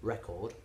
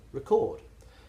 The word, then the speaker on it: record: So the noun has the stress on the first syllable, record, and the verb has the stress on the second syllable, record.